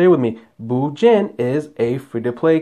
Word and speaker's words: Bujin: Again, see? Bujin. Bujin. Two syllables. Say it with me. Bujin is a free to play card.